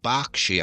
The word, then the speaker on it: Berkshire: This episode, Angela from Berkshire, I'm pretty sure it's pronounced Berkshire, but it's written Berkshire in the UK, asks, "Which Englishman starred as Ned Kelly in the 1970 movie of that name?"